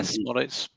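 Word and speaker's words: Szmodics: John T, I want to talk to you about your key player, Smodic, if I pronounce it right. Is it Smodic? Yeah, Smodic.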